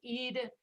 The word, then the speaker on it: Eden: It's Eden. She has accent on first syllable. Eden. Remember a little bit of a schwa for that second one, then it is not in the stressed syllable. So we go Eden, Eden. Eden. And poor Prácticamente little la E. hemos. Yeah, Ajá. second E, very sad. It loses its strength. Yeah, Eden.